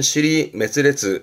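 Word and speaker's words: 支離滅裂: 발음은 시리메스레스 시리메스레스 지이면하다라는 것은 이리저리 흩어져서 갈피를 잡을 수가 없는 뭐 쉽게 말하면 뒤죽박죽 엉망진창입니다.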